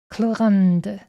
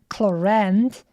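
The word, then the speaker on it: Clorinde: then they said cland even though you write it with an i instead of a a so I'm I'm not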